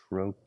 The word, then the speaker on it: trochee: And it's opposite a foot called a troy. I'll just write that uh I'll write that here. Troy. It looks like troi but it's spelled it's pronounced troy.